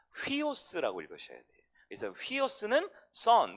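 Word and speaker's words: υἱός: 네 번째, 이 U자는요 위에 있는 이게 순표가 있으면 휘 발음이 납니다. 휘오스라고 읽으셔야 돼요.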